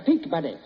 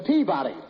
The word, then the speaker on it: Peabody: in Memphis at the peak buddy yeah you've got the wrong pronunciation it's the Peabody I got the right